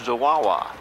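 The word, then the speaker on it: Zwawa: Brad Zawawa, and how you spell that is Z-W-A-W-A, but it's pronounced Zawawa.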